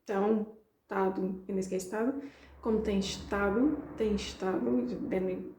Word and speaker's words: estado: But I don't say, remember the verb estar in Portuguese, we often don't pronounce the beginning of the word, so we skip the sh and we just say tão, estado, in this case estado.